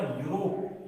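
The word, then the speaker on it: Europe: लेकिन जब आपने इसका उच्चारण किया कि इस स्पेलिंग को बोलते क्या है, तो आपने इसको लिखा यूरोप, आपने बोला यूरोप, यू यू यू क्या ये क्या है, ये एक व्यंजन है, तो आपने भर दिया यहाँ पे ए।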